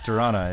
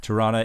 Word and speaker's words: Toronto: see I call it Toronto so the t is silent and most people these days will pronounce the O as an o sound but Tana is acceptable as well